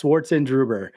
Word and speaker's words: Schwarzenegger: say your last name oh it's just how it looks it i know it's a little intimidating but it's schwarzenegger so it's german it means black gray